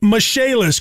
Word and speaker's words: Michaelis: restoration and insurance restoration spelled m-i-c-h-a-e-l-i-s pronounced mishaelis call 844 fix indy